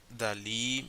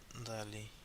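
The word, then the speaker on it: Dalí: And they have on that film on the I think it's on the 2001 they showcase the the one that Dali made.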